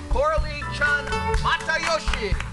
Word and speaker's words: Coralie Chun-Matayoshi: Ladies and gentlemen, please help me welcome the CEO of American Red Cross, Coralie Chun-Matayoshi.